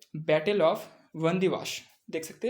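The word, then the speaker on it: Wandiwash: यहाँ पे battle of वंदीवाश, देख सकते हैं बैटल ऑफ वंदीवाश। डब्लू है यहाँ पर, डब्लू का उच्चारण जो है बी की तरह होता है।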